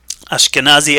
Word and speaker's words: Ashkenazi: I would like to explain that Ashkenazi actually pronounced Ashkenazi in Hebrew differentiate between Jews that